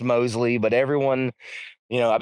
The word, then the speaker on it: Mosley: It's pronounced Mosley, but everyone, you know, I've been called MO so much of my life.